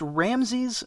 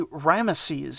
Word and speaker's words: Ramesses: and i should say i always heard it pronounced ramses but apparently ramesses is more correct anyway seti finished the job